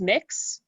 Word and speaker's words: Mx: usually safe to uh use mix mx pronounce mix which uh is gender